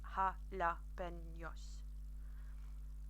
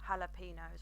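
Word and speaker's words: jalapeños: it anyway so but the Spanish J or Hodder is pronounced with a ha sound so like jalapenos so I'm giving you a little bit of a challenge there jalapenos is ha laughing Yas not jalapenos or jalopy nose as everybody pronounces them I'm really silly and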